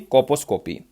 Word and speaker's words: colposcopy: इसमें एल जो है वो साइलेंट रहता है बेसिकली, कोपोस्कोपी।